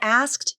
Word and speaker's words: asked: the word asked that you always pronounce the t don't drop the t if you drop the